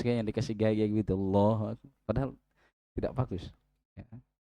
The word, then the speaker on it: Allahu Akbar: Terkadang juga takbirnya ya takbirnya kan lafaznya itu Allahu Akbar. A ada alif lam Allahu tapi terkadang Allah u. Allah ya. Allah Allahu Akbar sampai alif lam Allah. Nah. Padahal itu lafaz pembesaran terhadap Allah Subhanahu wa taala. Nama Allah saja tidak lengkap dibaca.